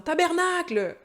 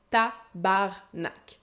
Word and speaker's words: tabarnak: On entend des fois des Français qui essayent de sacrer comme ça en disant « tabernacle ». Ça n'a aucune crédibilité. Tabarnak.